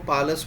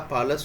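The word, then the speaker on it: parlous: इसका उच्चारण में देखो, मैंने वैसे यहाँ पर ये र का साउंड लिखा है, वरना आप इसको थोड़ा सा स्ट्रेच देकर के वर्ड को पार्लस बोल सकते हैं। आर के उच्चारण को नहीं करें तो भी चलेगा, पार्लस होता है।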